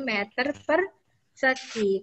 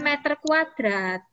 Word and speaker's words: meter persegi: Membacanya meter persegi ya anak-anak kalau luas tuh. Bukan meter kuadrat. Ya. Bukan meter kuadrat. Meter persegi.